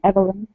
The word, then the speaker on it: Evelyn: pronouncing your name correctly is it Evelyn Yes actually in Russia it sounds a bit different like but I prefer since we speak English you might call me Evelyn I like Evelyn or